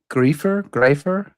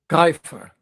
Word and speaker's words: Greifer: I might not be saying it right. A griefer? Greifer.